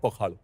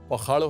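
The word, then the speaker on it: Pakhala: पोखाड़ो जो है pronounced S पी ए के एच ए एल बहुत वर्ल्ड फेमस उड़िया डिश है जो मतलब उड़ीसा के दिल के बहुत करीब उड़ीसा इज क्रेजी अबाउट पखाड़ो।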